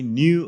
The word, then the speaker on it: knew: 그래서 I didn't know you in high school, but I knew of you. 한 번 더. But I knew of you. 너의 과거형은 knew잖아요. 이런 것을 늘 강조드리지만 묵음이라고 그래요. K가 사운드가 안 난다는 얘기죠.